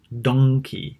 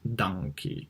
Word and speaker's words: donkey: to English pronunciation so as opposed to pronouncing the word monkey with an OP sound be careful because the another animal is pronounced donkey and not donkey okay so be be